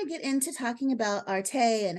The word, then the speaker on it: Arte: thank you for joining us Marissa is with Arte and that's how you pronounce that correct correct a-r-t-e which stands for